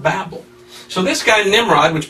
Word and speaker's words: Babel: Babylon modern day Babylon so Babylon Babel it should be pronounced Babel so this guy Nimrod